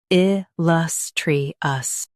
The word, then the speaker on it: illustrious: il lus tri ous il-lus-tri-ous Stress lus and keep tri light.